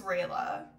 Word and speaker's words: Rayla: fun I love her her name is Rayla which rhymes with Layla who's one of your